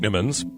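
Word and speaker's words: ichneumons: actually a horrible thing dick Nimmons pronounced it Nimmons smell that i CH n EU m ons their master super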